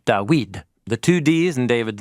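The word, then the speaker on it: דוד: And isn't it interesting that his name, Dawid, is spelled with the same Hebrew root as those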